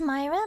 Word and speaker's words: Myra: No, just Myra, but the Y is pronounced like I. Blinding. Myra Shohei. Myra Shohei. Huh? Wait, wait, Mira Shohei.